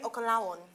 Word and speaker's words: Okanlawon: Adeyemi Okanlawon.